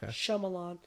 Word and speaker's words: Shyamalan: I see I see and the Y is silent so shamalan so anyways there you